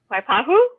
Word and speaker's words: Waipahu: ask you something was we saying but we pronouncing that properly waipahu yeah dude we got it right we got